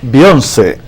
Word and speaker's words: Beyoncé: pronuncia Beyoncé? Beyoncé, son de los artistas más populares en el mundo.